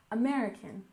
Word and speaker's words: American: Chase the American dream we stress the second syllable in American American the American dream is